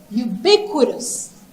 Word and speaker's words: ubiquitous: So ubiquitous. Ubiquitous. And this one, the right way, you just have to know how to pronounce it.